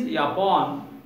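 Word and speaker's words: Япон: The Mongolian, the Japanese word pronounced in Mongolian is Yapon.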